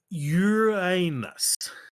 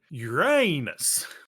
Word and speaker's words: Uranus: here we go DJ the preferred pronunciation among astronomers yeah is Uranus with a long u yeah and stress on the first syllable ah one way put